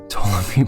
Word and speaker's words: Ptolemy: History and the Maccabees tell us before the battle, an assassination attempt of Ptolemy was, no, the P is silent, Ptolemy by some of his own men took place.